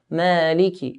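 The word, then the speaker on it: مالكِ: Notice on the kaf, there's a kasra. Maliki. It's very common to hear people saying Malik Yawmiddin, Malik. To say Malik Yawmiddin, we're not putting the kasra on the kaf. We're putting a sukun. Malik Yawmiddin, which is incorrect.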